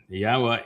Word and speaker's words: Yahowah: And while we very quickly cut to the chase and explained how Yahowah introduced himself, why he only has one name,